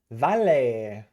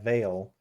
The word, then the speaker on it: Vale: sense today we are looking at Val just kidding it is a veil it could be pronounced V I just hit my uh